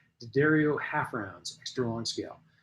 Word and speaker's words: D'Addario: How many people pronounce it D'Addario, and how many pronounce it D'Addario? For my entire life, I pronounced it D'Addario, and apparently I was wrong.